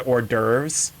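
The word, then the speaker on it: hors d'oeuvres: it, I'm like, "Okay, that's that's how it's pronounced." It's like it's like how as a kid I knew the word orves spoken and I didn't know that it was spelled that way.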